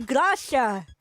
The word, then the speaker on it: Gracia: the name wrongly it was supposed to be Gracia not Garcia Yeah, for projects specific